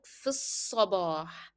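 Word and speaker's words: في الصباح: You will move directly from f to sa. It will sound like f sabah, f sabah.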